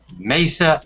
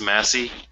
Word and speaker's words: Massey: Don Blankenship knows exactly what he wanted during the years he ran Mesa Energy, once the 6th largest coal company in the United States. Excuse me? It's called pronounced Massey.